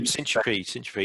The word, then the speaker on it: Syntropy: and that's consolidated in, am I pronouncing it right, Syntropy? Yep, Syntropy.